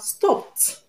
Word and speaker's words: stopped: And when a word has the last sound as a voiceless consonant, I'm going to pronounce the past tense marker as what? T. T. So we have stopped, which is the correct answer. We have wept, wept, and stopped. The two of them have the t sound at the end. We have t in wept and t in stopped. Now let's see another question